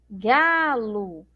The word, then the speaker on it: galo: que é separar sílabas galo galo então eu pronuncio como se tivesse uma letra U mas na verdade eu tenho uma letra O certo bom Então olha